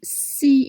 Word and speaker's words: six: You've noticed that the word six in French is pronounced C in front of a consonant.